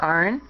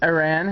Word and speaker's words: Aran: Okay, so here is Samus Aran, or Aran, however you want to pronounce it.